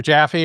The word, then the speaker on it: Jaffe: people say Jaffe and some people say Jaffe, and I'm in the Jaffe camp. Jaffe. Okay, that's not a problem. Rhymes with coffee and it's twice as delicious.